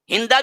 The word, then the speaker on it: ہند: اسلام قبول کر لی۔ ہندا بھی نام آیا ہے، ہند بھی آیا ہے، دونوں تلفظ ہیں۔ تو ہند بھی دراصل